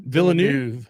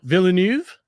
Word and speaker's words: Villeneuve: Lynch versus, how do you say this guy's name? Villanuv. Villanuv. There's a V at the end. Villanuv.